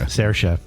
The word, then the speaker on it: Saoirse: Saoirse, like inertia. Saoirse.